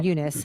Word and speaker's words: Eunice: say Fernanda Torres as is a Unice is how they pronounce her name Unice um She's So subtle